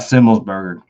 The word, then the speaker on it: Semmelsberger: I always get messed up and say burger like hamburger, but it's I guess it's pronounced the same way. Matt Semmelsberger, Semi the Jedi.